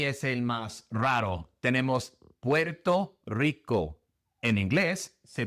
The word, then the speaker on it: Puerto Rico: Puerto Rico. Puerto Rico. Quién sabe por qué se pronuncia así en inglés, pero así lo pronunciamos.